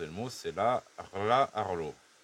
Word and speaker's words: Rlaarlo: Et bon, là ça va être le plus dur, c'est de prononcer le mot, c'est la Rla Arlo. Rla Arlo.